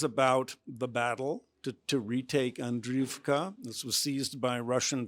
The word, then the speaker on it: Andriyivka: of 2,000 Meters to Andriyivka, the Oscar-winning filmmaker, Mstislav Chernov. Thank you so much for being with us. Thank you for inviting me. You pronounced it really correctly.